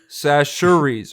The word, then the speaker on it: Chachere's: Sashuries, my Louisiana girlfriend's on the floor over here, so I'm getting the correct pronunciation real time.